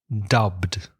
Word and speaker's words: dubbed: example the film is dubbed in Spanish so you hear a Spanish voice it's a dubbed film so it's one syllable dub dub next one